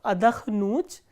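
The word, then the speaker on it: отдохну: written the conjugation of adakhnut, and rest of the verbs will have the similar conjugations. So, how do we conjugate adakhnut? Ya adakhnu, and the stress is on u, which is the ending.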